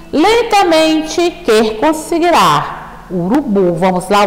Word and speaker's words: urubu: Ó, a gente percebe que a nossa pronúncia mais forte é a sílaba bu, urubu, bu, urubu. Então, o bu é a mais forte, portanto, é a sílaba tônica da palavra urubu.